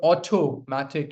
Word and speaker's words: automatic: You can make it sound like D also or automatic is also correct. Okay. Autoomatic. But the stress lies on the third syllable.